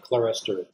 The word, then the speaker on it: clerestory: term modern um terminology people often refer to this as clear story um i learned it as clerestory especially where it is applied to churches christian churches i will pronounce it clerestory so this and it's